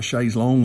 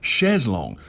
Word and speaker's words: chaise longue: of the phrase, but I'm calling it a chaise longue, whereas if I was actually using the French pronunciation, I'd be saying chaise longue. I'm actually anglicising the first word and preserving the French in the second word.